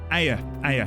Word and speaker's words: Ea: Sorry, was it Ea or Aya? Someone did say earlier how I pronounce it, and I kind of forgot halfway through. Ea or Aya? Aya, thank you.